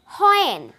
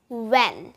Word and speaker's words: when: আমরা কিন্তু প্রায় সময় বলে থাকি হয়েন, হয় উচ্চারণ করে থাকি, কিন্তু এটাকে আমরা হয় মতো উচ্চারণ করব না, আমরা সঠিকভাবে উচ্চারণ করব উ এর মতো একটা সাউন্ড দিয়ে। তাহলে আমরা বলবো when, when।